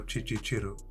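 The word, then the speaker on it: Kicukiro: $250 a month in areas like Nyamirambo or Chichichiru. That's how locals pronounce it.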